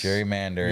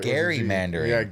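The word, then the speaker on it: gerrymandering: How do you spell it? I hear a G. There's a G. There's a G. There's a G. That's right. Gary Mandering. Gary. Not even Jerry. It's Gary.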